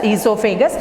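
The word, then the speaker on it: oesophagus: Esophagus. O silent, you have to pronounce it as esophagus.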